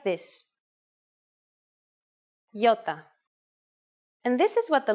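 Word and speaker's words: ιώτα: This is a vowel that you may have heard called iota. In Greek, though, it is called iota, and it makes the sound E.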